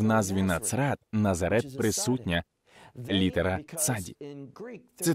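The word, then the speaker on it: נצרת: Є буква «цаді». Вона вимовляється як «ци», «ци», «ци», «нацрат». Так на івриті звучить «назарет», «нацрат». Це не «назрат», а «ци», «нацрат».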